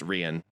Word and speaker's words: Rian: and it's pronounced Rian, Nina.